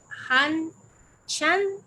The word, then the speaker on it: Han Shan: ¿Cómo se pronuncia el nombre? Porque yo en eso soy un poquito venerable. Han Chan, así se dice.